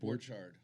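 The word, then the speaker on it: Borchardt: It's off the Did you know Derek has Mark Borchart's uh Is that how you say it? Borchard.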